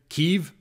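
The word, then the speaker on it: Kyiv: area or have and i still call it kiev by the way i can't i know they're using the the correct pronunciation keeve but i i still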